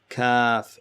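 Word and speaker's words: ك: Qaf versus kaf. In this one, middle of your tongue goes up.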